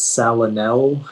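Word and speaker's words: salinelle: the information yeah so the only pronunciation is salanel it's a noun and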